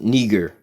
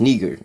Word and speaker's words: Niger: got the same meaning all right or it's pronounced Niger as actually pronounced Niger just like you would say